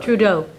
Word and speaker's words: Trudeau: Trudeau.